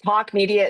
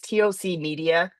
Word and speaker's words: TOC Media: it's Talk Media. It's TOC Media. Some people say it's TOC Media, and some people say it's Talk Media. I pronounce it Talk Media.